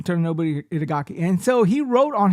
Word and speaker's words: Tomonobu Itagaki: Torinobu.